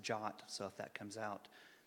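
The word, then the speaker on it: JWT: the way is pronounced jot so if that comes out that's what I'm talking about the W apparently makes an ah sound in English I guess there are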